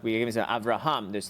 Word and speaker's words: Avraham: So we say every word has an accent. It's either on the last syllable or second to last. So most words on the last syllable, Avraham. It's not Avraham, it's not on the ra, it's on the hum, Avraham.